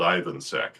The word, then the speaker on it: Ivansek: My name is pronounced as easily as it's spelled. Ivansack.